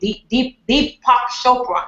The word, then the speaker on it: Deepak Chopra: he also works with Deepak Chopra. Is that right? Am I saying it right? He said it right. Okay. I love him. I can't pronounce his name. Deepak Chopra, right? That's right.